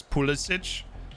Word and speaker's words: Pulisic: in a lot of ways it's become like politic where it's pulisic if like you're in croatia but americans just